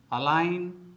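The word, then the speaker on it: align: नोम नोम नार्ड नार्ड तो दोस्तों आपको भी साइलेंट लेटर जी से बने शब्दों का प्रोनंसिएशन इसी प्रकार से करना चाहिए दोस्तों अब आते हैं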